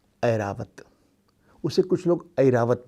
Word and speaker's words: ऐरावत: किंतु कभी कभी इसका उच्चारण खास उदाहरणों में ऐ जैसा भी होता है। जैसे हाथी का नाम सुना होगा, बड़ा प्रसिद्ध हाथी है ना, ऐरावत।